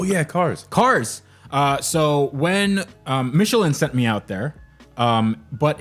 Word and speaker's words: Michelin: cars cars so when Michelin sent me out there but in the UK they call it Michelin which is wrong and it's funny because